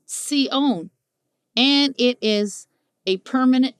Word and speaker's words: Sion: in Deuteronomy 448 however is not Zeon at all but an entirely different term seone with an S and indeed is the